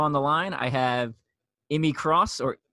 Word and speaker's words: Immie: a Spartan Pro on the line I have Emy Cross or is that how you pronounce your first name without the abbreviation it's